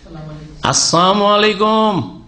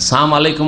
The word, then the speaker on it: আসসালামু আলাইকুম: আসসালামু আলাইকুম। আজকাল অনেক মূর্খ মুসলমান সালাম আলাইকুম বলে, লামটা উচ্চারণ করেন না। সাম আলাইকুম মানে, সাম মানে মৃত্যু, সাম মানে মৃত্যু, মানে আপনাদের মত হোক।